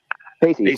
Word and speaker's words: facies: I don't know how to pronounce that word. Facies. Thank you. I didn't want to say feces. I wanted to say facies.